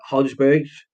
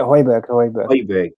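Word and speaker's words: Højbjerg: spurs player pierre emile is it hot hodgepodge oh yeah hoiberg that's how you pronounce it okay he's on 79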